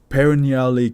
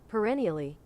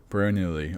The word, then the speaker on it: perennially: The paranaly gloomy three portant skies have been lit up by luminescent blue cable strum from the nearby.